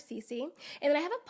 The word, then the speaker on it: Sisi: People do struggle to pronounce that. And realizing S-I-S-I is not commonly pronounced Sisi, I understand how that could be a little tough. Okay. However, it is average Cece.